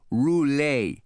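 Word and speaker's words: Roulet: would be LS Ross r o u l t he spelled it and I wrote it down on a legal pad almost like the spinning wheel but you pronounce it roule he said you going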